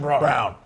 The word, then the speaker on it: Braun: assists for brawn yeah christian brown spelled brown spelled braun it's pronounced i like him over